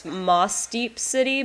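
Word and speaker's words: Mossdeep City: I guess the way it's spelled, it's Mosdeep City, but like when I say it quickly, I end up saying it with a harder S sound, more like the Z sound, so it sounds like Mosdeep.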